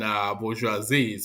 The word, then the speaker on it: bourgeoisie: It has three syllables. It's bo, hi, joie, zis. So One man. bourgeoisies.